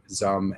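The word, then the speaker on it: Xumm: brain says x it's it's pronounced like z but you get what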